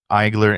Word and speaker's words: Aegler: Yeah, and if for those of you who are going to look this up, it's Eigler and it's spelled Aegler, if I'm not mistaken.